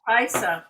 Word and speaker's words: Paisa: you say that I I would think Pais Paisa or Paisa Paisa that sounds right Paisa and that's appeasing